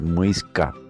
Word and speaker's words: muisca: Su pronunciación original es muisca, que traducido significa hombre, persona o gente.